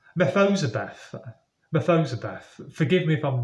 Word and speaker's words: Mephibosheth: forgive me, I really don't know how to pronounce this, Mephibosheth. It's Mephibosheth.